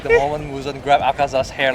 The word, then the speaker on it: Akaza: Akaza was about to like disappear and then like the image of man behind him.